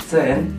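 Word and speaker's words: zehn: o i Noin betul angka 10 itu Cen Cen Jadi z-nya itu dibaca C atau C ten gitu betul ya angka 11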